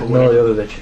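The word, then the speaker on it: Jovovich: Yeah, Milovich.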